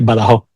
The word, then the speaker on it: Badajoz: Well, it will be if you pronounce it like we do here. Like we pronounce it in a way that's gonna be easier for you. We say Badajoz.